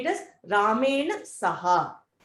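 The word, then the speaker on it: सह: You will say it as Ramena Saha. So Saha, ha has an ha, not the two dots.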